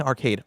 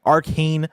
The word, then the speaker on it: Arcane: of arcade season 2 I keep saying arcade Arcane season 2 say it right you've got one job